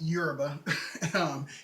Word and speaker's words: Yoruba: Yes, it's pronounced Yoruba.